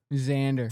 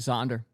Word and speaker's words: Xander: Xander.